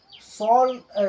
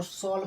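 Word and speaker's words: shawl: इसको साल साल नहीं पढ़ना है। इसको शॉल पढ़ना है। ठीक है? साल पढ़ने पर गलत हो जाएगा।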